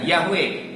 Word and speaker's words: Yahweh: yang benar yaitu nama yahwe yo wei wei dibacanya yahwe itu warna ma Bapa Surgawi kita sampai turun-temurun